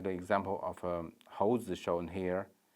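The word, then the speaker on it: 猴子: Well, should be 猴子, while the child pronounced like a 猴记, 记. And to pronounce the palatal instead of alveolar, 猴记.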